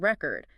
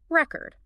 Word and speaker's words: record: Like, think about the word record. If it's a noun, like a vinyl record, the stress is on the first syllable, record.